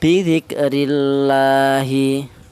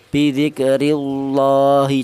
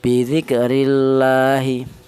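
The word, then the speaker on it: بذكر الله: Cara bacanya bidzikrillahi ya, jangan tafkhim, bidzikrillahi, jangan, salah. Karena apa? Karena lafal Allah jatuh setelah harokat kasroh, maka harus dibaca tarkik, bidzikrillahi.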